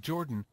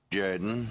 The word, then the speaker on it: Jordan: Pronounced Jordan. And now for something completely different. This is Shug Jordan, coach of the Auburn Tigers. Say what? No. It's pronounced Jordan.